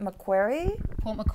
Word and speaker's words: Macquarie: how to say it print out how to pronounce it correctly but Port Macquarie Macquarie Macquarie little more slang Hamburg hospital see I